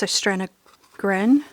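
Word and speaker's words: Søstrene Grene: It's a Danish shop called, it's pronounced Søstrene Gren, I think it is. It looks like it reads Søstrene Green.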